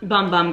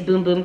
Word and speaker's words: Bum Bum: and true baby um bum bum cream excuse me i should know the pronunciation at this point it's boom boom cream sol de janeiro okay